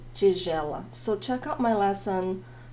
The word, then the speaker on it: tigela: espátula, espátula, prato, prato, tigela, tigela. I have a lesson on the pronunciation of the letter G in Portuguese because sometimes it's a hard G and sometimes it's not, like in tigela.